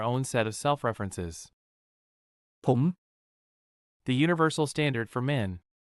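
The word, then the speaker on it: ผม: Pom. The universal standard for men. Sounds like poem rhymes with home.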